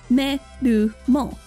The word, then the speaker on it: Melmo: The heroine's new name, Melmo, highlights her transformation abilities, deriving from the Japanese pronunciation of the word metamorphose. Metamoruhose, me-ru-mo.